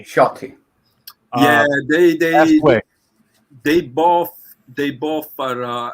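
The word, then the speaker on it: Sciotti: Gianetto De Rossi and Enzo Sciatti, is that how you say it? Ciotti. Shotty.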